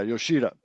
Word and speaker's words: Yoshida: So how do you pronounce his name? Homeboy in the Masataka Yoshida? Yeah, Yoshida for the Red Sox.